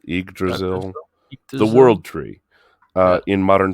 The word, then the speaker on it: Yggdrasil: How do you pronounce this? I think it's Yggdrasil. Yggdrasil.